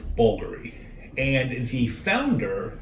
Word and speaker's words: Bvlgari: with the V or with the U is pronounced bouldery and if he found her since the trio's